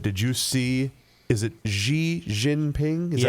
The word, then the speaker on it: Xi Jinping: Speaking of the summit, did you see, is it Xi Jinping? Is that how you Yes, pronounce I his will name? accept that. Xi Jinping.